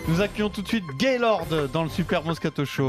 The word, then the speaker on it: Gaylord: Gaylord, C'est vrai que G-A-Y-L-O-R-D, c'est ça? Ouais, mais le D il se prononce pas.